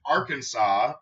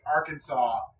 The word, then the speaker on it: Arkansas: yeah it's coming yeah another fun thing with Arkansas or as I like to call it Arkansas Arkansas it is strictly prohibited to pronounce Arkansas incorrectly that's beautiful though I absolutely